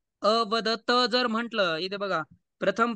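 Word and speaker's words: अवदत्: बघ आता बघ थांब अवदत इथे त पूर्ण आहे की हलंत आहे हलंत मग त्याचा उच्चारण सुद्धा हलंत करायचं अ पठत प्रमाणे अवदत अवदत जर म्हटलं इथ बघा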